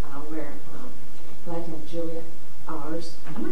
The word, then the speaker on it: Ours: Sarah Thompson moved out of the area, and so we're glad to have Julia Ours. Am I saying it right? But that's okay. Like horse without the H.